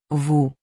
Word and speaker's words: vous: Vous. The S is silent.